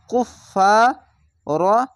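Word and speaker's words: كُفَّارًا: পড়বেন কাফ ফাফেস কুফ ফা আলিফ জবর ফা কুফ ফা র আলিফ জবর র একটি জবার বাদ দিয়ে র আলিফ জবর র এভাবে উচ্চারণ করতে হবে দুই জাবার আছে র আলিফ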